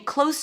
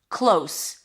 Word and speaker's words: close: We're sitting close to each other. Close. Long O is in go and then an S.